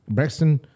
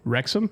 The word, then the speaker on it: Wrexham: teams in Europe uh there's documentaries about um Braxton uh Mr Braxton I'm saying it wrong uh wrexham wrexham yeah I said Braxton uh rexham uh